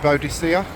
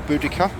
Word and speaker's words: Boudica: hope you're all well between vodacia or boudica can she can be pronounced either way it's a statue just